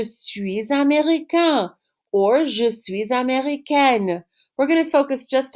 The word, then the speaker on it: américaine: the masculine form, but you need to answer with the extra E sound, that consonant sound at the end, if you're a girl.